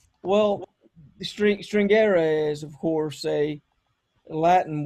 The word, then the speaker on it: stringere: But in Italian, it would be pronounced stringere. Stringere.